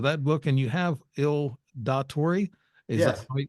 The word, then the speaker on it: Il Dottore: Just a quick synopsis of that book, and you have Il Datori. Is that Yes. how you pronounce it? Il Dottore, The Double Life of a Mafia Doctor.